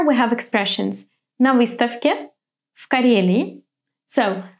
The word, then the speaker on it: в Карелии: You see that I do not pronounce v exactly as v. As we saw in one of the lessons before, v becomes voiceless if the following consonant is voiceless.